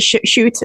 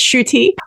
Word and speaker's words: Schutte: Nairn, and Samba Schutte, who is now pronounced Schutte. I always pronounce it Schutte, but it's Schutte.